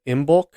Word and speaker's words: Imbolc: Imbolc, I guess, would be the best way to pronounce it.